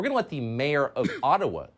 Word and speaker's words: Ottawa: let the mayor of ottawa or atawa as it's correctly pronounced ojibwa explain why peaceful truck